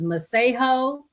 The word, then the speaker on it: Masego: So apparently the correct way to say his name is Masego. But I guess he don't know his name either, because he's been calling himself Masego.